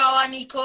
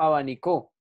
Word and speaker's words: abanico: Yo no digo abanicó. Ah, me gustó ese abanicó. Me estoy echando aire con el abanico. O tampoco dices, me gustó ese abanico. No, abanico.